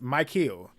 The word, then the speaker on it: Mikael: Mikael, I think that's Mike Hill. That's how you say it.